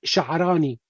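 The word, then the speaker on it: Sha'rani: Pronunciation of the name, it's Sha'arani. Sha'arani.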